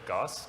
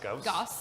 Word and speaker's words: Gauss: Like the how do you pronounce it? What's the next one coming up? Gauss. Gauss.